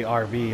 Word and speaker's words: Arby's: Oh, like Arby's, because it's phonetically RV, like for roast beef.